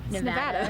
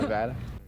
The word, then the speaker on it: Nevada: Nevada. Nevada. While the students here at the university know how to pronounce the school's name right, for those of